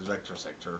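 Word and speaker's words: VCTR SCTR: But yeah, I think you're supposed to pronounce it as Vector Sector because it's all like famous games that were made with the vector graphics that the Atari used, which is Tempest and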